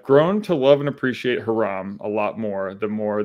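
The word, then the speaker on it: Hiram: call bokeum bakam like no it's bokeum okay Hyrum now I know now I know forever it's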